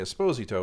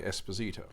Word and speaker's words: Esposito: sent for rafael esposito i'm presuming it's pronounced the italian way esposito as opposed to the hispanic way esposito so rafael esposito made